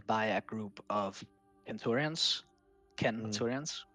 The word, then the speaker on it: centurions: You have to make sure that your legion is led by a group of centurions, centurions with a hard C. That's how Latin works.